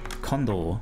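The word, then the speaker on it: Kondo: pronounce it Mario condo is it a long or no it's a condo yeah got that right Maria condo um yeah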